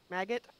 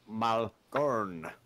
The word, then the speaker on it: Malgorn: yes, I can see how if you're not used to the Dwarven tongue, it is pronounced Malgorn.